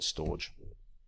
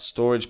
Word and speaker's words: Storj: I know it's pronounced storage, but I'm always going to call it Storj.